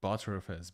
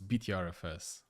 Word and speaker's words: Btrfs: Vo user mod ag wheel this butterfs butter my biscuit I I I cannot pronounce it like that to be honest it's btrfs or exactly.